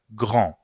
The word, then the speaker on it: grand: Grand termina con D en masculino y ese D no se pronuncia grand.